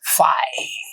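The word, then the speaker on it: φ: It's called empty set, denoted by this symbol, and it is pronounced as phi. It's a Greek character for the letter F, right? Greek equivalent of F, right?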